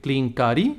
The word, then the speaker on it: Klinkaari: suggest they change it make it clean carry which is the correct name make it one word